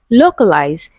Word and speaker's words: localize: Okay, option B we have localize, stressed on the first syllable.